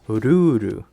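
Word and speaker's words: ルール: So the word rule, when pronounced in Japanese, is ruru.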